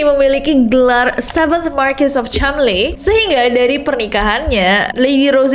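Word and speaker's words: Cholmondeley: atau Lady Rose chamle walaupun tulisannya chond le bacanya chamle sejak tahun 2019 ada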